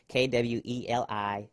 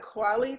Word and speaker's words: Kweli: I used to call it Kweli TV, like Talib Kweli, because I thought that's how you pronounced it. And then some people from Kenya who speak fluent Swahili was like, no, it's Kweli.